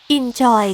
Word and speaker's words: inZOI: นี้ มี ชื่อ ว่า ino นะ คะ หรือ ถ้า อ่าน ตาม แบบ ภาษา เกาหลี ที่ เป็น ผู้ พัฒนา เกม เนี่ย เหมือน เขา จะ อ่าน ออก เสียง ว่า Enjoy ที่ แปล ว่า สนุก